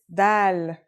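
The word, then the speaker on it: دال: Our first letter is dal. It's just like the English D.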